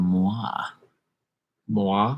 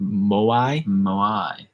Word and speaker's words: moai: 1860 big heads on easter island are called moi moi i don't think we pronounce that right moai yeah uh tom burdette says jaw harps are